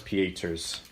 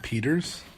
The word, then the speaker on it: Pieters: I'm going to go with Thomas Pieters is the other one. Is it, where did I say his name? Yeah. It's not Peters? No, it's German.